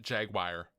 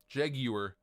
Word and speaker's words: Jaguar: Lots of people pronounce it Jaguar. I actually prefer the English pronunciation of Jaguar. Jaguar sounds correct to me.